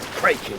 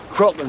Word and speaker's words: Kraken: I always heard it said “krayken.” RAGETTI: What, with a long A? PINTEL: Uh-huh. RAGETTI: No, no, no, no, no. “Krocken” is how it’s pronounced in the original Scandinavian. And “kracken” is closer to that.